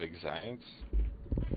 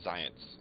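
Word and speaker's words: Xyience: buys 5 cases of Excience anytime he comes in? Excites? The Zions. It's like XY. It's like science, but spelled with an X and a Y.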